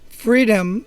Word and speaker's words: Freedym: It's spelled Freedym. Freedom, the Netflix for lifestyle entrepreneurs.